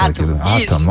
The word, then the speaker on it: Atom: A pronúncia tá correta. Atom, ok, tá bom.